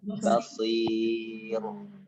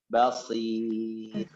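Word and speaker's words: بصير: Bukan basir. Nah, kalau itu balik lagi tuh. Itu udah otomatis nanti jadi tarkib. Cara baca tarkib itu posisi bibir masih posisi semula. Iya, basir. Basir. Dan apa namanya? Getaran ro-nya itu sedikit saja. Basir.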